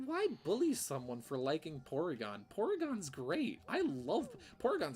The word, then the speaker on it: Porygon: So so it's called Porygon because it would be pronounced like Porygon instead of Polygon.